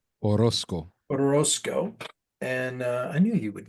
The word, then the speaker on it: Orozco: or is it, I don't know how to pronounce his last name, Orozco, O- Orozco. Orozco, and I knew you would know that, right?